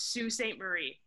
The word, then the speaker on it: Sault Ste. Marie: In a weird backwards Michigan way, we pronounce that as Sault Ste. Marie.